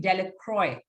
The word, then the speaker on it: Delacroix: jones we have dicky the villagers pronounced this name delacroix eventually made a great